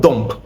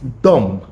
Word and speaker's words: dumb: No, it's not dump. It's dumb. It is dumb, not dump. Right? Likewise, this word this pronounced thumb.